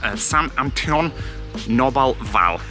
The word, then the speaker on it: Saint-Antonin-Noble-Val: But the place that we're going to visit today is called Saint-Antonin-Noble-Val. Locals pronounce it as just Saint-Antonin.